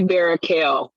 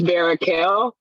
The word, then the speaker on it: Barachel: It's actually Barakel. It looks like Barachel, but it's Barakel.